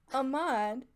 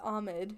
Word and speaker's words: Ahmed: Ahmad, is that how you want us to pronounce your name? No. And he goes, I mean, technically that's how it's pronounced. And I was like, then why wouldn't you just correct us and tell us to pronounce it the right way? Okay, wait, what's the right way? It's Ahmed. Ahmed.